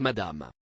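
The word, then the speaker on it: ma'am: reine doit d'abord être appelé votre majesté ensuite madame madame dolby a expliqué que la prononciation devrait rimer avec jambon ne pas nuire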